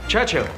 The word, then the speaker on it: Churchill: James's visit his Churchill Churchill that's how you say it all together like that I'd third church and Hill but couldn't find either